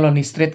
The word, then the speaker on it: Lonely St.: dari straykids Lonely Street calon di stsi tulisannya cuman harusnya bacanya Lonely Street gitu ya bedah Lonely Street